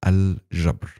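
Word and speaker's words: الجبر: Algebra is an Arabic word, by the way. It is pronounced correctly as al-jabr.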